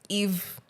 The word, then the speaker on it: Yves: So Eve Rothman, it's spelled Yves.